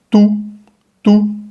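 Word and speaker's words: tout: Entonces, esta palabra, T-O-U-T, primero tengamos en cuenta que esa última T no se pronuncia, y ahora nos queda T-O-U. Vamos a leer simplemente la T con la U, tú, como lo dirías en español, tú, yo, tú, él, ella, tú.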